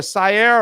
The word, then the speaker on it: Sare: Is it Sare or Sare, or how do you say it properly? Sare.